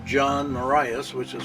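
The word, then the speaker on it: Morais: It's John Marias, which is spelled M-O-R-A-I-S.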